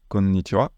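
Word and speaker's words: こんにちは: Et ici, le wa, c'est le même phénomène que je vous expliquais avec konnichiwa, où le ha se prononce bien wa, parce que ça, c'est une bribe.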